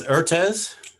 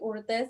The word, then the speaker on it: Ortiz: say your last name miss urtez hi you know it's fine my name is ortiz i'm from mexico and